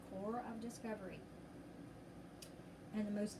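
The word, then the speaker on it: corps: discovery remember that c c-o-r-p-s is pronounced core core of discovery and the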